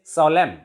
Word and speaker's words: solemn: In this way, we can say that N is silent after M when N is followed by M in some words.